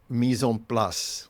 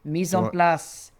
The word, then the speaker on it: mise en place: Mislas. Is that Mison Plus? Do I get French? You get credit 100 points.